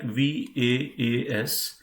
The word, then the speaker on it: was: So if you pronounce it, it will be like VAAS in English.